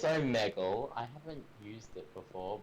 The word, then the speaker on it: Omegle: Yeah, Zach, do you go on Omegle or Omegle or how the hell do you pronounce that? I think it's Omegle. It's Omegle.